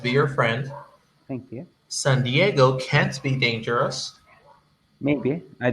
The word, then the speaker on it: San Diego: be dangerous then dangerous the the right pronunciation is exactly as you said it san diego because it's a spanish name it's a spanish saint actually um but the way you would hear it from an anglo-person would be san diego diego it's fun diego is